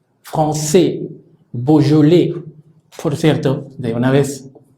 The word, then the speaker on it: Beaujolais: Si pronunciamos, tomando en cuenta estas características, EAU suena O, la J suena J, AI suena E, la S final no suena, la sílaba tónica es la que pronunciamos al final. Por lo tanto, esta palabra debería sonar y suena Beaujolais. Beaujolais.